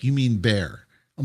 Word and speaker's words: Bexar: Like we we move when we first moved here, the county that we were in is called uh Bear County, but they spell it B X A R.